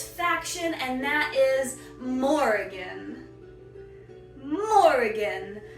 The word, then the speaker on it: Morrigan: Morrigan. It's like the easy name Morgan, but there's more of it. Morrigan.